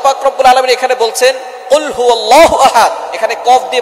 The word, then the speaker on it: قُلْ هُوَ: আল্লাহ পাক রাব্বুল আলামন এখানে বলছেন কুলহু আল্লাহু আহাদ। এখানে কফ দিয়ে পড়ছেন কিন্তু অনেকেই ভুল করে উচ্চারণ সঠিক না হওয়ার কারণে তারা পরে কাফ দিয়ে। কুলহু আল্লাহ।